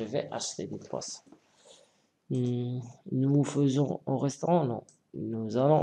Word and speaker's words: faisons: Nous faisons, d'accord, avec AI, ça prononce E. Nous faisons des efforts.